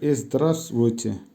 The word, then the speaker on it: здравствуйте: Buyer, здравствуйте, hello, উচ্চারণ হবে здравствуйте।